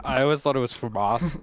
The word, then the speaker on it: FAMAS: it is famous it that's how you say it Famas Famas Famas Famas yeah